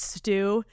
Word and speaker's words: Stu: Stu. Thanks, Stu. Rhymes with poo.